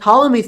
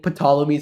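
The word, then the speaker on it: Ptolemy: keep in mind and tmy Theorem yeah I know it's a little funny pronunciation I used to keep saying pomies in my other videos so yeah there's a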